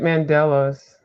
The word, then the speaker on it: mandala: you do great mandalas Thank you. or mandala. It can be pronounced either way. Yeah, it's kind of like potato, potato.